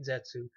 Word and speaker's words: Zetsu: be able to create Zetsu, sorry, I don't know if it's pronounced Zetsu or Zets because when they say it in Japanese, they don't say "oo," Zets.